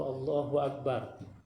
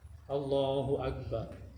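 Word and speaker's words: الله أكبر: Allahu Akbar. Bukan Allahu Akbar, tapi Allahu Akbar.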